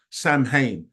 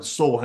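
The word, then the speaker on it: Samhain: the an ancient Pagan Celtic Festival known as Sam hay now I know that that's that's how it's spelled but it's not actually pronounced like that it's like s ha or something s ha is how they really say it but Sam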